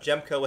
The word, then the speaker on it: Jehmco: So Gemco is spelled Jehmco, Gemco. Sorry, I had to spell it out in my brain.